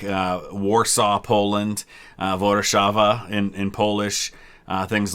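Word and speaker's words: Warszawa: are very similar like uh warsaw poland uh vodachava in in polish uh things like that uh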